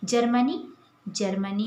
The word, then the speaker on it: जर्मनी: अर्थात सन 1839 में जर्मनी यहाँ पर देखिए, ये ज के बाद ये रेफ वाला र है, तो इसका उच्चारण जो है ज के तुरंत बाद होता है, तो हम इसे पढ़ते हैं जर्मनी।